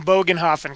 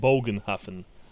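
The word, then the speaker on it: Bögenhafen: just he's just saying Bogan Hoffman correctly yeah that's sorry it's big enough because it's um yeah yeah that's how you pronounce the the o with the dots over it yeah of the dots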